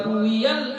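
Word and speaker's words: رُوِيَ: wa rawal istiftahu wa ruwiyal istiftahu, ruwiya. Jadi kalau kata huruf ra wawiyah, kalau enggak ada nama orang, kita bacanya dengan sighah majhul, ruwiya. Kalau ada nama orang, maka kita baca rawa, gitu ya.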